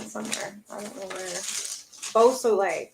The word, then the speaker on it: Beausoleil: At least I got Busalele, right? It's Beausoleil. Wow.